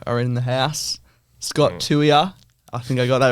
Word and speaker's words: Tuia: achieved Premiership Duo are in the house Scott Tua I think I got that right and Taj